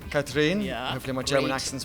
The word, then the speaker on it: Katrin: Hi, my name's and we're here at Web Engineering 2019 in Palma, and I have the awesome Katrin, did I pronounce that correctly? Katrin.